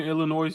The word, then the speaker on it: Illinois: She went to University Northern Illinois University, and the S is silent.